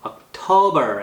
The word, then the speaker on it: October: October 액센트 이음절, December, November 이렇게 됩니다.